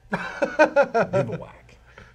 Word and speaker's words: bivouac: I know it's a real word because there's a YouTube video that showed me how to pronounce it. Bivouac.